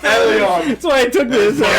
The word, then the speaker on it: Elon: Well, yeah, it sounded like you said Alien Musk at first. Elon.